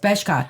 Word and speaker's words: spatchcock: Spatchcock.